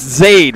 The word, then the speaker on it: Zaid: It's Zaid, right? Am I pronouncing it correct? You got it correct.